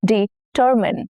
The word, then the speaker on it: determine: Now hint stress is on the second syllable. You must determine determine the winner carefully. determine.